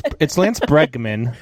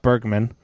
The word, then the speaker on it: Bregman: It's Lance Bregman, not Bergman. There's a Bergman Don Man, Burger Man. Yeah, Bregman pronounced backwards is Namgreb.